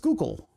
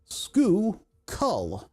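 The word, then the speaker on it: Schuylkill: on whether or not you're a local, it's pronounced skookal. Skook. Skookull.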